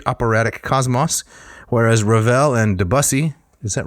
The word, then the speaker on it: Debussy: Composers like Wagner used the narrative foundation of Norse mythology to create an intricate operatic cosmos, whereas Ravel and Debussy, is that right? Is it Debussy? Debussy.